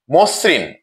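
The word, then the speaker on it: মসৃণ: উচ্চারিত হচ্ছে মধু মধু আমরা দুই নম্বার উদাহরণে দেখছি মসরিন ম এর সাথে অকার আছে এবং দন্তস এর সাথে ঋ কার আছে যার ফলে ম এর অকারটি ও এর মত উচ্চারণ হচ্ছে মসরিন মসরিন প্রিয় শিক্ষার্থীরা আমরা তিন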